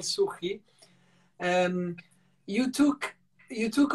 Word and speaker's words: Suchy: way of pronouncing uh i was saying sushi is called suhi and you took you